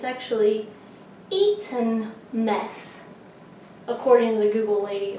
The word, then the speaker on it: Eton mess: probably an embarrassing amount of time calling it Eton mess, which I definitely have ordered it at the Cambridge Tea House as that and no one corrected me. But it's actually Eton mess, according to the Google lady also that helps